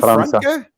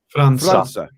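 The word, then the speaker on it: França: Franca. Franca. An S with the C with the little thing is like an S.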